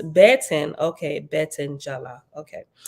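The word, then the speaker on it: beten: word B10 b-e-t-e-n pronounced baton okay Bet Angela okay the Hebrew word Betten pronounced Betten is a feminine noun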